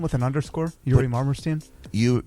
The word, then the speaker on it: Yuri Marmerstein: yeah it's just my name with an underscore yuri marmerstein you say it uh yuri i'll have to spell it because it's a slavic name so y-u-r-i